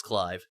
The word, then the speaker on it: Clive: assuming that it's clive it could be cleave because we have the whole tdis titus situation and other characters in final fantasy that have kind of had weird translate or weird pronunciations but i believe it's it's clive as as i said